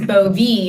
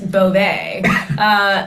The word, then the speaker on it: Bove: This feels like the moment that we learned that Emile Bovee is Bovee and not Beauvais.